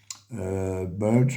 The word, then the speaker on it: Bulge: verrez marqué sûement bataille Battle of the Burge Burge on prononce à peu près c'est bu l g c'est comme ça que